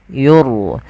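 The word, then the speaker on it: يُرْسَلُ: Ra tafkhim adalah ra yang kita baca dengan bacaan tebal. Yur.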